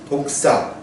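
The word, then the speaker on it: δόξα: 독사. 예, 독사입니다. 예, 독 있는 뱀과 같은 그런 같은 발음이에요.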